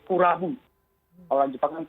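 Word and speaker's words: クラブ: Kalau club itu di bahasa Jepangnya diucapkannya oleh orang Jepang sebagai kurabu.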